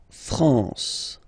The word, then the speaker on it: France: okay lambour okay la France la France okay n here nazal la France okay we continue leba